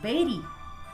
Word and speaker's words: bury: Commonly people mispronounce this word as bury, but it's not bury. The correct pronunciation is bury.